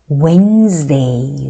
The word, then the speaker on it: Wednesday: It's Wednesday, Wednesday. Wednesday에서 이 D가 무음 나거든요. 그래서 Wednesday입니다.